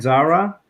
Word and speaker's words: Zahra: the show with uh am i pronouncing it right zara yep and you're here but